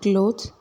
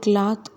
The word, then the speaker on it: clothes: Can you fold the clothes, can you fold the clothes. இதை க்ளோத்ஸ்ன்னு தான் சொல்லணும். நிறைய பேர் கிளாத் கிளாத் அப்படின்னு யூஸ் பண்ணுறாங்க. நோ, அப்படி ப்ரொனவுன்ஸ் பண்ணக்கூடாது. நீங்கள் ஃப்ரீயாக இருக்கும்போது எனக்கு ஃபோன் பண்ணுங்கள், இதை எப்படி சொல்லலாம்?